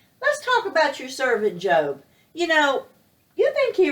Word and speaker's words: Job: the book of Job it's spelled J OB EU Jo B it looks like the word job but it's really the name of a man named job and job was one